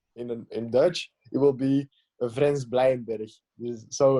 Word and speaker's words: Vrenz Bleijenbergh: In English, I will say Vrenz Bleijenbergh. I will say that. I think it's most easy. But if I say it in Dutch, it will be Vrenz Bleijenbergh.